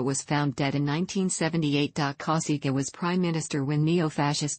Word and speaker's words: Cossiga: although he was commonly called kausika the original pronunciation of the surname is Kousaka his surname in Sardinia and Sasser Reis means